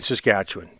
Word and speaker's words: Saskatchewan: How did you pronounce it? Saskatchewan. Not Saskatchewan. Yeah, I always thought it was Saskatchewan. No. You guys are saying Saskatchewan. Saskatchewan. Yeah. Almost like it's W-I-N.